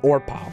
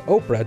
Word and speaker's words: Orpah: On her birth certificate, she was named Orpah, after the biblical character featured in the Book of Ruth. People mispronounced it so much that it ended up sticking, and that's why we know her as Oprah today.